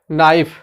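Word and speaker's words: knife: 10वां है नाइफ, नाइफ, अब देखिए लास्ट में ई है लेकिन प्रोनाउंसिएशन कहाँ खत्म हो रहा है, फ के ऊपर, नाइफ।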